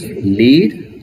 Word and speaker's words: lead: So we can pronounce the word lead in two different way. One is lead. Lead means lead the people, leader, like this we use. And another one is lead. Lead, it's a metal.